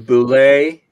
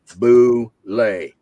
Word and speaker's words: Bulette: The Boulet. The Boulet. Attention. I published the correct pronunciation with the monster in July of 1976, okay. Dragon number one. Boulet. Why? Because I said so.